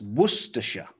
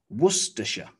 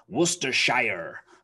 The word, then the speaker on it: Worcestershire: you try okay it's worcestershire worcestershire again it has the c-e-s-t-e-r so star worcestershire worcestershire and here the s-h-i-r-e is simply pronounced sh sh you might think